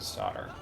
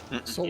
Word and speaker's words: solder: As an aside, I absolutely hate how we spell and or pronounce the word solder. Like, Solder?